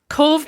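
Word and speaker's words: Cobh: And Cove is spelt C-O-B-H, is that right? That's right. Yeah. I mean, that's just nonsense. Look at you. It actually is, Adam. Cove is actually a made up word.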